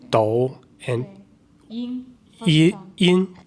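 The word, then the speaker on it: 抖音: Do, right? Do, third tone. Do and 音 yin.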